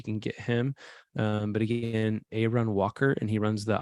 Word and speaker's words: Aaron: His name is Aaron Walker. It's spelled Aaron, but he pronounces it Aaron.